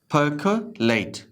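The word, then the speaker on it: percolate: ये परकोलेट है, पर आर के बाद सी है तो नहीं पढ़ेंगे, परकोलेट, परकोलेट।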